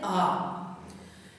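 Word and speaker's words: ağa: Βλέπετε, εμείς το λέμε αγάς, αλλά στα τουρκικά προφέρεται α.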